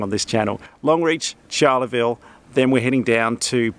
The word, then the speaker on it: Charleville: want to sound wrong on this channel Longreach Charla Vil then we're heading down to Berk I'm gonna